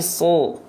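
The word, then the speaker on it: ص: Ketika berharokat baris atas dibaca bukan sa tapi su.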